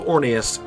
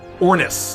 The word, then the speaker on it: Ornus: And the Orb of Orneus is a legendary relic. Ornus, not Orneus. Why do I keep saying Orneus? It's Ornus.